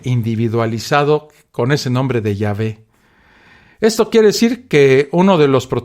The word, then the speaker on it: Yahvé: chica y la H, salió la aberrada pronunciación de Jehová, que hoy quien la use será todo un perfecto ignorante, incapaz y necio, ya que lo correcto es escribir y pronunciar el nombre de este otro concepto de Dios de la Biblia como Yahvé.